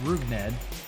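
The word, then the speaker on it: Rougned Odor: has odor first name looks cool as it's pronounced ruged a baseball reference's nickname is listed as Stink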